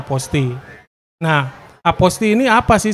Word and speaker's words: apostille: tulisannya apa postinor-2 walaupun kalau kita bahasa Indonesia tulisannya begitu kan dibacanya apostille tapi yang benar itu sebenarnya dibacanya posting nah apo sini apa